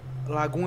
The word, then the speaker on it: Lagom: Primeiro, que é Lagoon, eu acho que é uma cidade na Suécia, e também é um estilo de vida da Suécia. Se escreve Lagom, mas se pronuncia Lagoon.